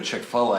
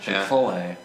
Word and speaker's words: Chick-fil-A: Then there's also the fact that you go to Chick-fil-A and like get something that's delicious. How do you pronounce Yeah. that? Chick-fil-A.